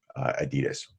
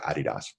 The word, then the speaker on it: Adidas: That's, Roche, Adidas, right? Or Adidas. Yeah. You want to pronounce it correctly? We're the only country that pronounces it Adidas.